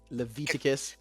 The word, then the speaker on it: Leviticus: if you're running this model, though, you're obligated to pronounce it Leviticus. Leviticus Yeah, because it's V to kiss.